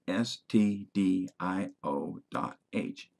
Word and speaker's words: stdio.h: This is pronounced stdio dot h and stands for the standard IO header file. It does not refer to a recording studio for a rock band.